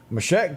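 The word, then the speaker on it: Meshach: No, you would turn the turn the TV channel to watch Designing Women, and his real name, you pronounce that Mashak? Mashak Taylor. Right.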